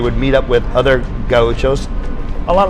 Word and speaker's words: Gaucho: staff, as do we, the proper pronunciation in Portuguese is Gaucho, which means someone from the southern plains in Brazil, the grasslands where they raise cattle.